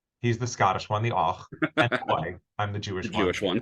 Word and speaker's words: Och and Oi: Och and Oi, is that how you pronounce it?